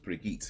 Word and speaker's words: Brigitte: I'm not Bridget. I know a lot of people say Bridget Nielsen, but I believe it's actually pronounced Brigitte Nielsen.